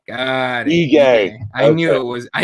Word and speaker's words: Ige: Ige. I knew it was. I knew it was something weird that wasn't like. There's no way. Yeah, right. That's right. It doesn't. It's not pronounced how it looks.